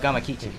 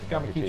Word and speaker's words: Gamakichi: Please, I'm terrible with pronunciation. Oh, the character he's playing? Yeah. Gamakichi. Gamakichi.